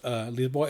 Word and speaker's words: Lisboa: Here I have this a box set called Lisboa Under the Spell, which means, of course, Lisboa is how you say Lisbon.